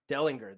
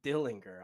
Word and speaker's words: Dellinger: How do you say Dellinger? Delinger. That's how you say it. I've always called him Dillinger.